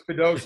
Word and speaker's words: Kudus: I called him Q, so I know it's Kudos now.